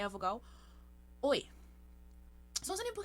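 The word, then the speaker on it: ㅚ: Apesar de ser a vogal O mais a vogal I, a pronúncia vai ser OE, tá bom? OE, OE. Você fala sem deixar nenhum intervalo entre elas.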